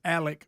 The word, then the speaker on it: Alex: on Netflix they would refer to him as Alec murall when they were interviewing people I thought